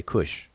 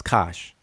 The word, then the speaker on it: Kush: down here right here they call it kosh we say kush um the glyphs would dictate us to to pronounce it as kosh um now this uh